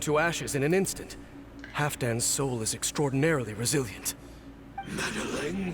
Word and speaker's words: Halfdan: It's Halfdan. Halfdan. I keep forgetting how to pronounce his name.